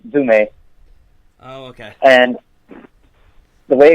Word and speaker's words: Zoúme: It's just in Greek, and it's pronounced Zoúme.